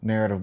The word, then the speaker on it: NRRTV: But when we sat down, we regrouped, rebuilt, renamed, rebranded into a company called Narrative Global, LLC.